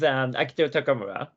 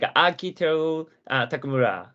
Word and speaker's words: Akiteru Takamura: Yeah, so my name is Akiteru Takamura. As in a Japanese pronunciation, like Akiteru Takamura is very similar to Japanese pronunciation.